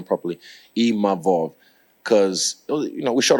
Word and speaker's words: Imavov: And I'm grateful to even Nasruddin Imavov, sorry, I learned how to say his name properly, Imavov, because, you know, we shot a fair one, he beat me.